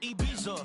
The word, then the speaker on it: Ibiza: Yeah, it's pronounced Ibiza, actually. What's the difference, man? Ibiza, Ibiza, you won't see me in neither.